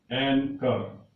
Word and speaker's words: anchor: और उसका उच्चारण है एंकर. स्पेलिंग है ANCHOR.